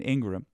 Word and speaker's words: Ingraham: that Carlson Hannity and Ingram Ingraham I can't believe that's the correct way to say her name but it is uh didn't believe the